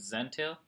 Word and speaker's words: Zentail: this is rhyme with Zen tale I'm going to show